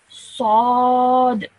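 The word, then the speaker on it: صاد: The next sound is this one, sad. Sad. Okay, it's a nice thick heavy sound over here.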